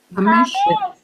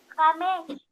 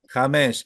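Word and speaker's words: חמש: Hamesh. James. Hamesh.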